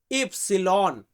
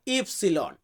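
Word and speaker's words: ipsilon: যে কারণে এটাকে আমরা অনেক ক্ষেত্রে দাব ভি উচ্চারণ করি এরপর আছে কি এক্স আমরা এক্স বলি এটাকে আমরা ইতালিতে বলি ইক্স ইফসিলন ইফসিলন মানে হচ্ছে ওয়াই ওয়াই কে আমরা ইতালিতে বলবো ইফসিলন এন্ড জেড যেটাই জেড কে আমরা ইতালিতে বলবো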